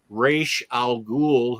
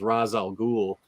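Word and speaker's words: Ra's al Ghul: the dark knight and introduced reish al ghul whose name i had been mispronouncing for 45 years until i watched batman the animated series because i always thought it was razal ghoul but with with adams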